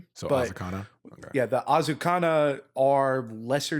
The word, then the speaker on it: Azakana: Um so Azukana um like definitely more with like the uh like Asian pronunciations to kind of go with the Ionian theme. So Azakana.